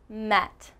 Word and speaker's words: met: between e and a here we have met let's say it together met now this is a much much shorter sound e let's try it